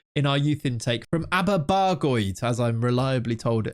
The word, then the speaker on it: Aberbargoed: There's also Thomas Evans, this bizarre case of this Welshman that came through in our youth intake from Aberbargoed, as I'm reliably told how that's pronounced in the comments.